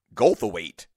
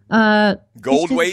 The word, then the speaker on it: Goldthwait: It's just, you don't have to say the T. Oh, wait a minute. Goldthwait? Bob. The TH is silent?